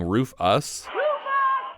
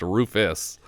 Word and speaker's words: Rufus: It sounds like the boys are saying Roof us, which, though it is spelled that way, is usually pronounced Rufus.